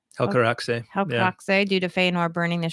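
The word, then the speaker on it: Helcaraxë: Helcaraxe, yeah, Helcaraxe due to Feanor burning the ships and leaving Fingolfin and his people behind, which is a good reason to dislike him.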